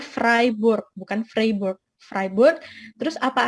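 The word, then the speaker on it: Freiburg: 2015 saya ke Jerman di kota freeboard Nah ini bacanya fribourg Khan Framework ribet terus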